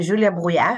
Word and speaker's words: Julia Brouillard: I am Julia Brouillard, and you did pronounce my name correctly, which is not an easy task.